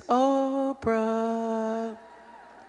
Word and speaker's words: Oprah: It was really Orpa, but nobody knew how to spell it, and the P got put before the R on the birth certificate, so then it became, I guess it's Oprah.